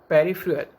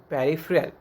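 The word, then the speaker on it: peripheral: Then after पेरिफेरल, ये भी उसका एक प्रोनाउंसिएशन यहाँ पे उसको मैंने दिखाया है, PUH, पू, RIF, reef, UH एंड RUL, पेरिफेरल। उसको हम स्पीड में बोलेंगे पेरिफेरल।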